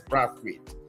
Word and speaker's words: Brathwaite: Let me pronounce his name the way he likes it. Ray M.S. Brathwaite.